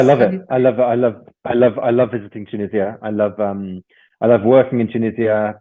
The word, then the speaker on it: Tunisia: Yes, and I'm glad to know that you visited my country, Tunisia, like Tunisia. A lot of people they do pronounce this differently many times.